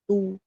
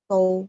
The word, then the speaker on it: 都: Huruf yang sama, cara bacanya ada dua. Tergantung dia fungsinya sebagai apa. Kalau dia fungsinya sebagai nama kota, nama tempat, itu pakai tu, bacanya tu. Nah, kalau misalnya dia fungsinya sebagai kosakata artinya semuanya partikel ya untuk apa subjek yang jamak, maka dia bacanya tou.